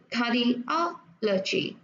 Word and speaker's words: cardiology: nó có o chi ở đây á, thì nó sẽ thường là nhấn vào cái âm trước đó. Ví dụ cardiology.